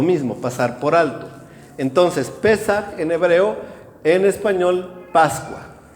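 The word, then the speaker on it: פסח: Y la primera, que está en el versículo 4, es precisamente la fiesta de la Pascua, que en hebreo se dice Pesaj.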